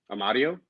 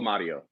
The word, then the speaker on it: Amadio: Amadio. So you guys signed your third goalie to an extension, and you signed. Say it again. Michael Amadio.